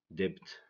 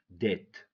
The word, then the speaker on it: debt: If we read these words, someone who doesn't know the silent letters is gonna say, or she's gonna say, hour, dipped, but get, sin, sign, recept, fasten, somi, folk, isel, klemb, hymn, handkerchief. This is wrong, okay? This is wrong. If we know the silent letters, we're gonna say our, debt, budget, sign, receipt, fasten, sum, folk, aisle, climb, him, handkerchief.